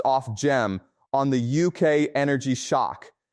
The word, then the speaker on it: Ofgem: I checked Resolution Foundation and Ofgem, pronounced Ofgem, on the UK energy shock.